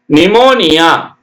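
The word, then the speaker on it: pneumonia: ஒய் சிச் ஓ எல் ஓ ஜி Y psychology நிமோனியா பி என் இம் ஓ என் ஐ ஏ நிமோனியா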